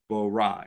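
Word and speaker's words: ברא: Bara is the Hebrew translation. It's pronounced bara. B-A-W-R-A-W. Bara.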